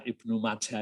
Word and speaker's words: Ibnu Majah: ya tadi ada bacaan Ibnu Majah ya dibaca Ibnu Majah ini tuh ya kalau kalau di dunia saya itu ndak ndak motor tidak berlaku yaitu wajah gitu tidak tahu kalau kamu ngajar itu membacanya Ibnu majjah Kalau saya itu ya tadi sudah saya jelaskan